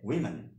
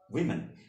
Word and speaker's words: women: উচ্চারণটা আমেরিকান ইংলিশে হবে উইমেন, উইমেন। ওকে, ব্রিটিশ ইংলিশ কি হবে? উইমেন।